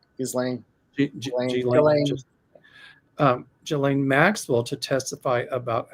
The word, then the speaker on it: Ghislaine: I say Elaine with a G. Ghislaine.